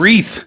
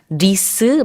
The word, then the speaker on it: wreath: In Korean, we pronounce that 리스, but I think it's a good point that you made that, you know, we learn the real word, which is not 리스, it's wreath.